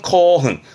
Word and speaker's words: 興奮: 발음은 코흔, 코흔스르, 흥분하다의 흥분의 분자로 많이 쓰여집니다.